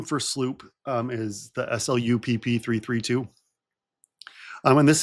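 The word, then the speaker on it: SLU-PP-332: Sloop. Sloop. I always mispronounce it.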